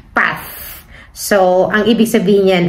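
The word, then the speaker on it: paz: Well, sa atin, sinasabi natin pass. P-A-Z. Zeta. Pass. But normally, ang mga Spanish kasi, pinopronounce nila yung zeta na yan as like TH, like path.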